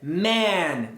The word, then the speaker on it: man: É man, como sai duas vezes. E e man e o e sai. É só um sonzinho. É um som curto de e man. Man. Basicamente a letra e só existe para ligar as consoantes M e N. Man.